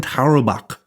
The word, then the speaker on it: Tarwebok: It's spelled Tarwebok, and it's pronounced Heineken Tarobak.